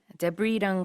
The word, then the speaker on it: debris: 자, rubble이라는 게 잔해, debris랑 같은 의미인데요. D-E-B-R-I-S. S는 발음하지 않습니다.